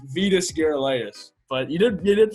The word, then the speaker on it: Vitas Gerulaitis: and that's the second one you might have pronounced better it's Vitas Gerulaitis but you didn't get it pretty good day